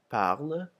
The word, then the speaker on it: parle: as in mer, bête, whereas the parler makes an A, and then the E at the end of parle is silent.